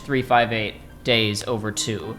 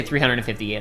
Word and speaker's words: 358/2 Days: But as it turns out, Joey has not had time to finish 358 Days Over 2, because that is how you're supposed to pronounce it. 3-5. Wait, not 358. Well, you can say 358.